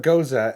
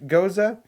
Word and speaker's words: Gose: We've got the Highwire Gose, and I'm pretty sure that's how you pronounce it.